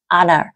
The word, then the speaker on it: honor: là vinh danh thì không đọc là Honor nhá h Honor ví dụ they were